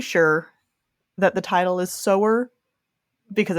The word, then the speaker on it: Sower: admit I'm pretty sure that the title is sewer because it's about sewing seeds I figured out partway through reading it but when I was first looking at the title I definitely thought it was like sour like rhymes with Tower or bower for no